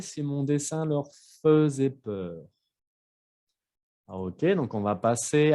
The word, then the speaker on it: peur: Ensuite, peur. Ahí tenemos que escuchar la R al final. Peur. Como las palabras con E-U-R, sí se escucha la R como il meurt, la peur, l'heure, ¿ok?